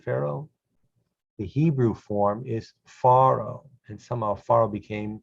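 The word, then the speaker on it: פרעה: ulla line number seven faro is the hebrew pronunciation of what we in english say pharaoh moses and pharaoh the hebrew form is faro and somehow pharaoh became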